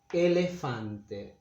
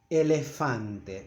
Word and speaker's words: elefante: Elefante, elephant, elefante. The vowels are very clear, are always the same. Elefante. It's not elefante, but elefante. English native speakers tend to make a diphthong here, but I know it's